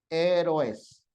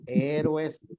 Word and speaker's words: héroes: ¿Cómo se lee esto, jóvenes? Con sílaba. Héroes. ¿Así está bien? ¿O está mal? ¿Está bien? Negativo. No me diga eso, voy a reprobar. Negativo. Vean qué letras son. Siempre tienen que fijarse en las vocales.